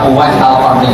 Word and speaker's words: Uwais al-Qarni: Bacanya Uwais Al-Qarni, jangan salah alur. Ya, di sukunin roh, Uwais Al-Qarni itu menangi Rasulullah Shallallahu Alaihi Wasallam.